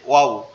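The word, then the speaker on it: واو: আমরা যে অনেক সময় ওয়াও বলি, কোন একটা ভালো জিনিস দেখলে কি বলি, ওয়াও কি সুন্দর। তো এটার উচ্চারণটাও এরকম ওয়াও, ঠিক আছে?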